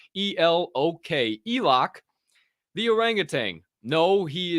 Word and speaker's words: Elok: Oh, Elok the orangutan has an NFT. That's right. I told you, Elok the orangutan. That is spelled like Elon, but with a K. E-L-O-K.